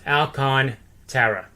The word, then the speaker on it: Alcantara: the baseball reference yeah dot com and it's pronounced alcon tara that's all right so that good that guy